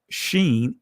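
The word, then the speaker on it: שין: in the Israeli language makes two sounds the sh in this pronounced Sheen and scene the numerical value is 300.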